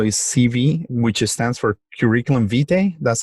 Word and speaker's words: curriculum vitae: guys but also is cv which stands for curriculum vitae that's how you pronounce it and um there's always obviously we